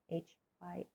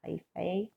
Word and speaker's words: hyphae: So our basic structure are these threads, these hyphae, H-Y-P-H-A-E. Sometimes you'll see that pronounced hyphae or hyphae, depending on if you're pronouncing it like Latin or American English.